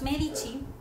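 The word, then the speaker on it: Médici: Los Medici o la familia de los Medici, van acento en la E, era una de las familias más importantes de Florencia y tenían muchísimo dinero.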